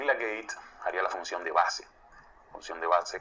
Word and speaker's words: gate: En el TBJ se llama base, en el FET se llama gate, no gay, gate, gate se escribe.